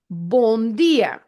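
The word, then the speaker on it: bom: end of a word you never pronounce it as an m it's just there to make the previous vowel a nasal vowel so through your nose so it can be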